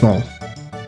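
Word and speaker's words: Marle: It's um Marl. I think it's pronounced Maul. Moral. Moral. It's Mal.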